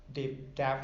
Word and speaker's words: Dav: as successful as, say, Dav? Is it Dav? It is actually. It's pronounced Dave. I don't know why it doesn't have an E on it, but that's Okay.